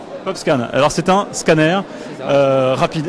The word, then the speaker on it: PopScan: Alors comment on prononce déjà le nom de votre start-up? Ça s'appelle PopScan. PopScan.